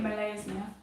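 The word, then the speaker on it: Molaesmyr: You say it Malay's now.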